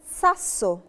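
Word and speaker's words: sasso: القاعده اللي احنا اتعلمناها ساسو ساسو ساسو ساسو ساسو ساسو اللي هي الحجر او طوبه نطاقنا فيها عشان الدبل اس وعشان الاس لتر جه وراها على طول العطر رقع فانا نطقناها ساسو باستا باستا باستا باستا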